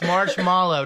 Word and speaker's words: marshmallow: o w m a when are people going to learn it's marshmallow not marshmallow do we say out marshow phonetically speaking we should say Malo right but we don't marshmallow sorry guys I'm just